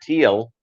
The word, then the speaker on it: Thiel: You get women wanting to know more about you, even though Peter Thiel, that's how he pronounces it.